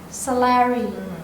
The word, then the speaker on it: celery: Tapi dalam kata celery itu C-nya jadi soft. CELERI, celery. Itu jadi soft.